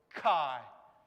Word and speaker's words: chi: the middle right and it's called chi and it's a axi kind of sound right like fox like it makes that noise right when you when